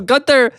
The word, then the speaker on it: Gunther: He's like, yeah, he's German, so it's actually pronounced Gunther.